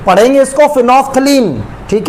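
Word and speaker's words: phenolphthalein: फिनोफ्थलीन क्या spelling होगी? फिनोफ्थलीन। इसको पढ़ने का पढ़ेंगे इसको फिनोफ्थलीन।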